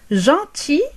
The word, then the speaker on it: gentil: Gentil, gentille. لطيف أو لطيفة. Gentil. للمذكر le masculin. نقول gentil. Gentil. لا ننطق حرف L في الأخير.